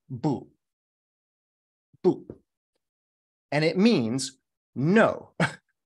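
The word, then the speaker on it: 不: in in Chinese is this character and it's pronounced boo boo and it means no no and this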